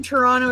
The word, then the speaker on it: Toronto: Okay, well, the thing about Toronto is if you're from Toronto, you don't say the second T. It's Toronto. You see how I'm saying it? Toronto. Yeah, okay. So no, it has a soft Toronto. It has a silent T.